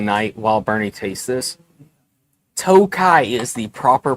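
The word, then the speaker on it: Tokaji: It is spelled with a J in there. It is not toki or tokajai. J is silent.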